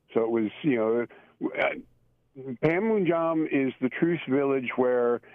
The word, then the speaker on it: Panmunjom: How do you pronounce that place? Panmunjom. Panmunjom.